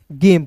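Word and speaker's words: game: अब कहिएगा सर जेम पढ़ेंगे कि गेम? तो जी का उच्चारण ग होगा। ठीक है? तो क्या पढ़ेंगे? गेम पढ़ेंगे।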